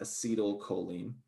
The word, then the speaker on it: acetylcholine: So you pronounce that acetylcholine.